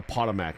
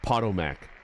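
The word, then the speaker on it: Potomac: Wait, is it pronounced PTOAC? I've been calling it the POTMAC my entire life. Have people been laughing at me? Ha, idiot. This is the PTOAC, I like Pottomac, you know.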